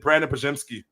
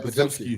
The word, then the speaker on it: Podziemski: And then my last one, I still don't pronounce his name right ever, but Brandon Podziemski. Yeah, Podziemski. Yeah. Podziemski.